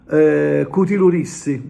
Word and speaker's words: Cu ti lu dissi: Cutilurissi, no? Che lui si scrive cutiludissi, no? Però noi, ad esempio, noi siciliani in Trapani diciamo cutilurissi, cutilurissi, insomma, famosa canzone portata